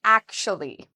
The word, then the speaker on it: actually: it's spelled with a TU, is pronounced like an SHU. So we would say akshu. Akshu. And now if we add the last part, we can say actually. Some people say it in 4 syllables, actually, actually. Other people say it in 3 syllables, actually.